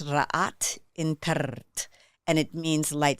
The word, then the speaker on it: Rha: in the comedic lineage uh and language it's pronounced RA in and it means light Supreme bringer of